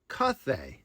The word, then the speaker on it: Cathay: It was Cathay.